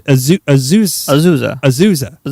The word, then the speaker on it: Azusa: It's Azusa. You got it. It's not hard. Azusa. John Philip Sousa.